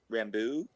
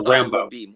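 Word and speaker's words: Rambeau: sylvester stallone's character but everybody else called her rambo where you put the accent on the la long o which is the the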